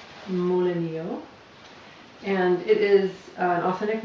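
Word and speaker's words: molinillo: tools to do this the first is amolo pronounced moleno and it is an authentic Mexican tool designed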